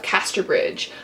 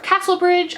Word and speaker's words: Casterbridge: is the mayor of Casterbridge. I often mispronounce this as the mayor of Castlebridge. I do realize this. It's just the way my eyes read the word Casterbridge, but I am getting it right this time, guys.